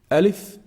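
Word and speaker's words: ألف: the first letter Elif Elif is pronounced from the empty space of the mouth and the throat so there's nothing specific it's a med letter when I say it's just air that comes out from the empty space here make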